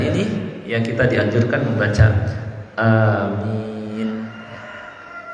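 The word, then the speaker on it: آمين: Dan setelah membaca ayat ini, yang kita dianjurkan membaca amin. Huruf alifnya, ya, hamzahnya itu kan mad badan, dibacanya 2 harokat saja. Jadi waladhdallin, amin, jangan terlalu panjang, amin, keliru. Jadi 2 harokat saja, amin.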